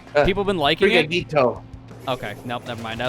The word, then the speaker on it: Sprigatito: Yeah, the new grass type they're showing off for Gen 9, Sprigatio, I think it's pronounced. People have been liking it. Sprigatito.